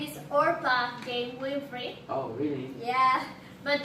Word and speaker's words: Orpah: a really special guest the one and only Oprah hey thanks for inviting me oh you're welcome well in fact my name is Orpah Jane blu-ray oh yeah but people mispronounce it